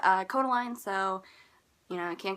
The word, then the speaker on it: Kodaline: so much my next artist is called Kodaline pronounced Kodaline just saying anyway they're from Ireland and I